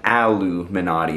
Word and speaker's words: Illuminati: underground Society or anything this guitar is pronounced aluminati because the neck is made of aluminum and the body is